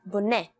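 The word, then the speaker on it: בונה: For example, the letter Hey often ends a word with an a or an sound, like in the words Laila, for night, and Boneh, the masculine singular form for build.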